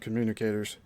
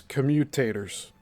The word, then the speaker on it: commutators: So I guess I mispronounced that before. It wasn't communicators. It's commutators. Commutators.